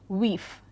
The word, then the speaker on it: wife: For example, in the medieval text we also know that the term wife was pronounced with a long E, weef.